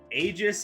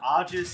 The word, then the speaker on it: Aegis: to finish that point Aegis is the more English American pronunciation ajis is more of a Greco-Roman pronunciation so there you go as